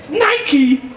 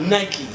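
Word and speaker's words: νίκη: Nike? But then it broke it down and the pronunciation is not Nike. It's Nike. Okay?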